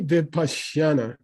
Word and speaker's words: Vipassana: What's the long A? Vipassana, right? It's the last syllable.